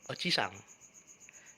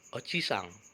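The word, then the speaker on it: おじさん: Perlu minasang perhatikan, bunyi vokal panjang dan pendek membedakan makna atau arti. Contohnya adalah oji-sang yang artinya kakek dan oji-sang yang artinya paman. Oji-sang kakek, oji-sang paman.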